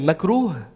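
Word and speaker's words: مكروه: everybody repeat after me mekuru it has like an H sound at the end so if you want to spell it it's Mak ROH right macro macro means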